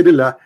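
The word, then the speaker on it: لله: There's two letters. Li lah. So we say it fast, we say lillah.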